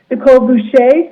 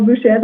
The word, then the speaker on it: Boucher: How about first we have Dr. Nicole Boucher, or Bouchez, I think it's Boucher is the French pronunciation, but please correct us. And then I see Tom Caslow. So please, Nicole. Either pronunciation works, Emma.